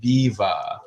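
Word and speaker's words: Biewer: i We R it's spelled beer but it's pronounced baiva because it's uh from German it's a German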